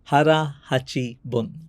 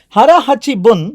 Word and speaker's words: hara hachi bun: Hara Hachi Bun. Hara Hachi Bun, sometimes wrongly pronounced as Hara Hachi Bu, is that Okinawan practice, ஒரு Japan Island.